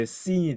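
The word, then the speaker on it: שׂין: 점이 중요한데 점이 왼쪽에 오면 이게 sin이 되는 거고요. 발음이 sin이 되는 거고 오른쪽에 오면 쉰이 됩니다.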